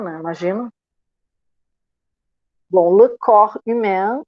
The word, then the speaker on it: corps: Eu não pronuncio aquele P nem aquele S. Porque corps, como é que se escreve? C-O-R-P-S. É corpo, né? E eu vou dizer o quê? Le corps. Eu digo só corps. Não pronuncio, deixa eu ver, duas letras eu não pronuncio.